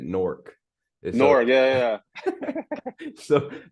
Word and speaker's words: Newark: Yeah, I just saw something where people in Newark they pronounce it Nork.